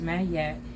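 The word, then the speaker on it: Maat: is ironically 888 okay may pronounced mayat is an ancient Egyptian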